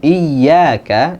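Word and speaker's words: إِيَّاكَ: Intinya pada saat pengucapan iyyaka itu jangan berlebihan.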